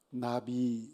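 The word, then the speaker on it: נביא: 그렇게 얘기를 할 때 히브리어로 어떻게 발음을 하느냐 하면 선지자가 아주 쉬워요 나비 라고 그럽니다 나비 나비 않아 br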